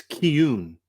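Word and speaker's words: Cian: Apparently, Trevor, it's Kun. C I A N is pronounced Kun.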